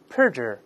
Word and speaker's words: perjure: 了，我们注意重音在前面，大声读一下 perjure perjure。